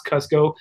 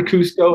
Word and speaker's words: Kusko: Cusco okay you sko pronounce Cusco never Cousteau unless you want to get on my really bad side or it's like I'm